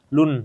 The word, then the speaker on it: Lun: Lun, bacanya Lun ya? Lun. Lun.